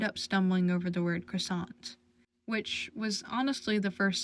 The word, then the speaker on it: croissant: how to handle my croissant atushi crossed his arms offended you're just stupid janit churro frowned it's obviously pronounced without the T dumbass what's next are